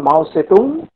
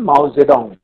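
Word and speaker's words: 毛泽东: উনি প্রথমে ছিলেন মাও সেতুং, কিন্তু ম্যান্ডারিন ভাষায় এরকম পরিবর্তন হয়, পরে উনি হন মাও জেডং, মানে ওনার নামের উচ্চারণটা সেই রকম ভাবে করা হয়।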